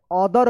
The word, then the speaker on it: other: OTHER अदर पढ़ेंगे, author मत पढ़िएगा, उदर मत पढ़िए, क्या पढ़ेंगे, अदर पढ़ेंगे, अदर।